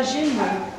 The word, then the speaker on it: genou: Tra parentesi, in francese il ginocchio è indicato da una parola che si pronuncia genou, suono che significa anche io, noi.